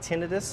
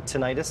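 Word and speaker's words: tinnitus: so it's called really it's called tenus or tenius however you want to pronounce it um so we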